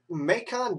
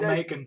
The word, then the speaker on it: Macon: Yeah, Granny got in Macon, Georgia. Go Macon. Yeah. Grandmas are awesome, apparently, in bacon. Don't mess with them. Might have something to do with it rhyming with bacon, but I'm not sure.